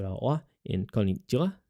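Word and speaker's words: こんにちは: The same can be said about wa in konnichiwa. It is pronounced as wa, but spelled as ha.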